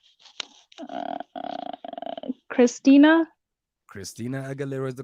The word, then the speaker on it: Aguilera: Her surname rhymes with era. I. I, Uh, Christina. Christina Aguilera is the correct answer.